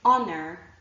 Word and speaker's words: honor: So the list that I showed you before, honor, our, honest, and air, are actually the 4 words that I can think of and their derivatives where there's an H but it is not pronounced.